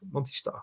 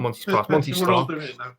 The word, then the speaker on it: Monty's Star: ahead of Monty's star Monty star yeah it's not monsters yeah then you've got